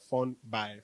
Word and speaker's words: Funbi: shows ladies and gentlemen my name is spelled as f-u-n-b-i like fun by from by i'm a